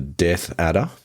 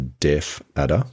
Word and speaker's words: death adder: The death adder. Yes. Sometimes people mispronounce that as a deaf adder because they do appear to not have particularly good hearing.